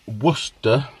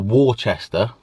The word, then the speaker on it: Worcester: So today I am off to Worcester or Worcester, which is really how you say it if you look at it, to go and train legs with the Vanilla Granilla.